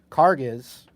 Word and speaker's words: Karges: So it's Murphy, Murphy, Carges. Did I say it right? Karges. You got it right.